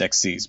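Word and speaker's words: Xyz: 1900 defense it's pronounced exes by the way ex ah sorry yeah think of it like to exceed expectations I gotta yeah you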